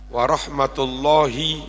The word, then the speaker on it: warahmatullahi: enggak ada kan enggak enggak ada panjang sebetulnya jangan Assalamualaikum enggak asalamualaikum warahmatullahi wabarakatuh warahmatullahi itu pendek nah beberapa penceramah bacanya